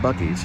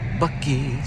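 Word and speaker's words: Buc-ee's: we're pulling into bucky bucky's bucky i like the way it's spelled b u c ee apostrophe s buckies here's a sneak peek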